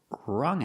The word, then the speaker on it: wrung: In the past, wrung out. We see the U making the short sound like cup and up.